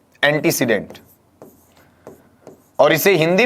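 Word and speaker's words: antecedent: अनुसार इसे लिया जाएगा यहां यह टर्म है इसे पढ़ा जाता है एंटीसीमेंट क्या पढ़ते हैं इसे एंटीसीमेंट और इसे हिंदी में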